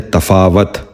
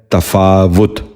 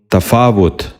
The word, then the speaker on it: تفاوت: نشین کر لیجئے، تدارک۔ تیسرا لفظ ہے تفاوت۔ یہ غلط تلفظ ہے۔ درست تلفظ ہے تفاوت۔ دوبارہ سنیے، تفاوت۔ بچوں آپ بھی ذہن نشین